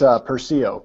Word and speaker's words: Persio: who's the CIO of Persio. Is that how you say it? You say Persio, right? It's Persio, but yeah, everybody does that. I missed the accent on it.